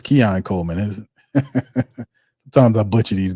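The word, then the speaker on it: Keon Coleman: late getting there yeah Kenyan Coleman all right Kenyan Coleman is that it it's Kean Coleman is sometimes I butcher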